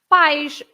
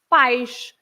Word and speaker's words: pais: So the word parents is pais, because a father is pai, pai. And then the plural parents, you just have an extra S, and it's pais. Yes.